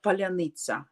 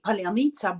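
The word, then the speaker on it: паляниця: groups our soldiers till uh tell the word pronounce the word uh palyanizza and I can tell you none of Russians can pronounce that word properly nobody so they can't say palanica but that sounds absolutely not not in a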